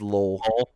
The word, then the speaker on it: Lowell: It's just Lowell. You ever seen the movie The Fighter with Mark Wahlberg? Nope. Oh, yeah. Lowell, Mass.